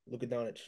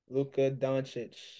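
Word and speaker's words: Luka Dončić: team headband selects the guy with skinny headband LCA donic you didn't say his name right you should be able to take him Luca donic where he from svenia that's why you were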